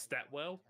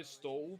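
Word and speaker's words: Stawell: so well in Victoria it looks like it's pronounced stat well oh stole that well and it's proud I've only been to Melbourne once I was like so I I know I know I know stall because it's on the road to Melbourne from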